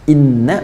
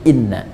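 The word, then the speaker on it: إنا: ya inna ilaihi roji'un Inna pakai tahu kan bacanya pendek bukan ini tapi Inna Inna Ila robbika Roja ketawa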